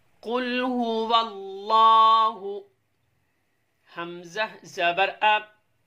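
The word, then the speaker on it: قل هو الله: और दूसरी चीज़ यहाँ ये आपको बताते चलें, अक्सर देखा जाता है कुल हु अल्लाह पढ़ते हैं। नादरीन, हमने स्पेलिंग के दौरान आपको सिखाया वाव लाम ज़बर वल, लाम खड़ा ज़बर ला, वल्लाह, अल्लाह नहीं करना, वल्लाह हा पेश हु,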